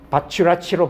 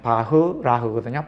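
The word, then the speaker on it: Bachrach: 가점을 받을 수 있는데 발음에 주의 위의하세요.이 학자들은 독일 계통 학자들로 제가 알고 있어요. 그래서 이름이 영어식으로 발음하면 안 돼요. 그래서 바추라치로 발음하면 안 되고 바추라치 영어식으로 발음하면 바추라치인데 독일식으로 발음하면 바흐라흐거든요. 바흐라.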